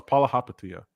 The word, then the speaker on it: Palihapitiya: If the David Sachs are in the mix, don't you dare badmouth Chamath Palihapitiya. Okay, I love that guy. No, it's Palihapitiya. Palihapitiya. I love him. I love both of the pronunciations of his names too.